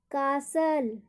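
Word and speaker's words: castle: हमने अभी पढ़ा कि जब स्पेलिंग के एंड में STLE और STEN दोनों में से कोई हो एक, तो वहाँ पर टी का उच्चारण नहीं होगा।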